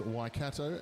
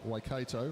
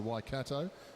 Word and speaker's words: Waikato: for my bad pronunciation it is waikato not waikato which i've been saying so waikato thank you for your